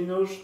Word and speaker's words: knows: That's because he knows that his role... How do you pronounce the S? That is because he knows. Knows? He knows that. How do you pronounce this S? Together. A Z.